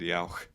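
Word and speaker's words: Yauch: on the documentary, they said Yao. Yao. Well, maybe that's how you say it in Yiddish or something, Maybe. Yeah. I mean, that's the correct pronunciation.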